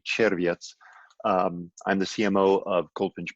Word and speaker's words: Czerwiec: My name is Czerwiec. That's the Americanized, bastardized pronunciation. It's actually Czerwiec.